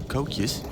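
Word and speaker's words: koekje: Dutch Easter cookies or Kus as they call them K okay that all right cus is that how they pronounce it yeah it's like k o e k j e c fair enough different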